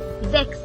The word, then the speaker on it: sechs: So okay, German are now more H. Like in A, B, C, A, B, D. They pronounce H more, her sound. So same as in Sechs. Sechs, Acht. The both are similar.